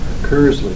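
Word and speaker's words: Kirsle: Kursley. What is Kursley? What's the significance of that? Um, it's pronounced curs and that's just a internet alias that I came up with a while ago.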